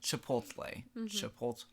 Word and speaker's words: chipotle: and I was like, it's really not that hard to just chipotle, okay? It's literally how it's spelled too.